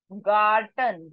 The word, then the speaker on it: Garten: s CR CR CR gay this is not g it is gay sound please keep in mind please make a note gay J sound so this is not Jordan This is Garden Garten G sound Garten ha house ha how